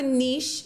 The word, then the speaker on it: niche: I just honestly I don't have a niche.